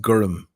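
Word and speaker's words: gorm: uh blue g o r m and it's pronounced gum it's not g it's gum gum so that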